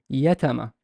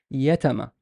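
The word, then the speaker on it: يتامى: Is ya on a fatha, and there is ta has a fatha, and the meme has a fatha. Is yatama, yatama, yatama, yatama.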